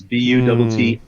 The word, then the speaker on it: Buttigieg: And I believe his name is spelled Buttigieg. Well, in this case, the I's have it because it's Buttigieg.